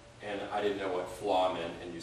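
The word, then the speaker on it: fleadh: She also won the Mid-Atlantic FLA champion, and I didn't know what FLA meant, and you spell it F-L-E-A-D-H, so I guess it's a Gaelic or Celtic word, but it means festival.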